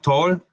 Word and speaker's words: tall: Tenemos tall, call, hay una regla que dice que la A con la L, una A antes de una L se convierte en OL para pronunciar.